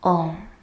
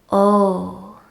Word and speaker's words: Om: the mantra home so this mantra is usually written out with the letters o M and it's often permanent pronounced in that way as well oh now this is sort of a weathered version of the mantra ohm is actually comprised of three separate syllables ah-oh and mmm with the lips closed